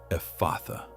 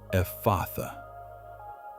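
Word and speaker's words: Ephphatha: The word is Ephatha. Ephatha. Pronounce it with me. Ephatha.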